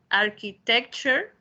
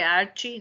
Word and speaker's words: architecture: Now, architecture, try to pronounce it, architecture, architecture, nada de archi, ¿no? Architecture. Eso es lo raro, ¿ya? Que cuando vean ustedes la palabra ture, ahí se produce el sonidito cher que tenemos nosotros.